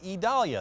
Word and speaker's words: Idalia: We've got blue skies this weekend, virtually sunny here again today, but all eyes are on what will become Hurricane Idalia, that's how it's pronounced.